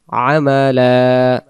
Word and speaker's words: عملا: أيكم أحسن عملا عملا দুই জবর এক জবর বাদ দেব একটা জবরকে এক আলিফ টানবো আমালা أيكم أحسن عملا وهو